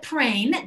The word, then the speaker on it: Prehn: This is, again, Prehn. That is pronounced like rain with a P, but it is spelled Prehn.